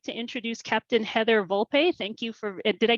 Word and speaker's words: Volpe: here so I'd like to introduce Captain Heather Volpe thank you for did I get your name pronunciation right there excellent Captain Heather Volpe thank